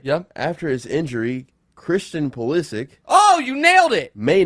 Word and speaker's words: Pulisic: After his injury, Christian Pulisic.